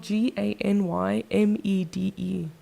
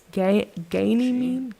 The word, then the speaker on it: Ganymede: So, it's spelled G A N Y M E D E. Ganymede.